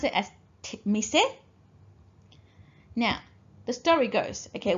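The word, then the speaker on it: 店: We pronounce it as mise.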